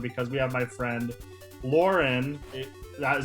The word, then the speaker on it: Lauryn: Very stoked for today's episode because we have my friend Lauren. Is that how you pronounce it, right?